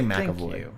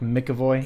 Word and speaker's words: McAvoy: James McAvoy James McAvoy I say McAvoy even though there's no m.a.c yeah it's more like Mickey boy yeah but that's just